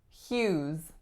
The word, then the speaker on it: Hughes: vowel is ooh and the final s makes a Z sound Hughes Hughes for this one